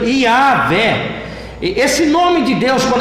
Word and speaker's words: Iavé: Para alguns, Javé, mais conhecido como Jeová. Mas hoje, para os estudiosos do Antigo Testamento, a melhor pronúncia seria mesmo Iavé.